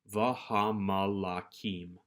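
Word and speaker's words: והמלכים: The mem here, however, does not lose its dagesh, so we still know that this is pronounced. Vahamalakim.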